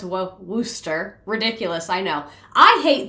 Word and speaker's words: Worcester: Worcester is pronounced Worcester.